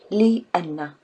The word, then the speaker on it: لأنّ: you put them together you pronounce it Leanna Leanna because the Anna